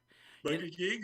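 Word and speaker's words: Buttigieg: his last name is but a gig is that how you pronounce it yeah i just i just put emphasize on the butt ah okay because he's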